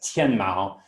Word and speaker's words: Tmall: If you see the little cat there, TMall was mispronounced as TMall. When it started becoming popular in China. TMall, depending on how you pronounce it, means sky cat.